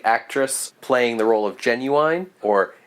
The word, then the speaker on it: Genuine: playing the role of genuine or genuina to use the German pronunciation is Fern Andra and